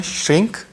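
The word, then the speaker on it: shrink: इसकी प्रोनाउंसिएशन है श्रिंक। आप ध्यान देने वाली बात यहाँ पर है, यहाँ पर गा लिखा हुआ है पर आप पूरा गा इसे प्रोनाउंस नहीं करेंगे। इसका हिंदी मीनिंग होता है सिकुड़ना या छोटा होना।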